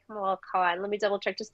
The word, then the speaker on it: Kamala Khan: And so Kamala Khan, I think it's Kamala Khan. Let me double check just to make sure I'm not saying it wrong. One second. Yes. Okay. So Kamala Khan, she's appeared in other, I think, comics before